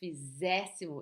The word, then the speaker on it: fizéssemos: And it's although it's an ER verb, the pronunciation is fizéssimo, it's open.